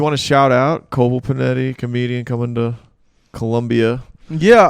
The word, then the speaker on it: Panetti: panetti with two bees panetti is p-a-n-e tti rhymes with spaghetti so easy to remember nice it's mexican it's